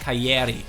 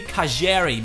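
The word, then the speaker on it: Calleri: from boka Juniors actually I think you pronounce it like Keri because that's again Double L Argentina or maybe kajer because that's Argentina but let's get rid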